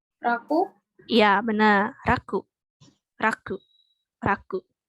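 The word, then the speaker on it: 楽: Apa nih dibacanya? Raku.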